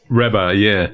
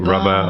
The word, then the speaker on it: Rabah: Rabah, yeah. Oh. Rabah. I get Rabah, I get Rabah, I get, Rabah. Rabah is the more sort of, in Lebanese it's the Rabah.